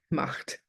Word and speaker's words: Macht: And my name starting with M, I went with double M, Macht. So it's just pronounced Macht, it's spelled with a double M.